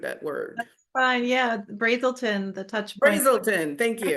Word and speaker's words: Brazelton: is this the same as or different than brazilton touch points and I may have butchered that word fine yeah Brazelton the touch Brazelton thank you touch Point Center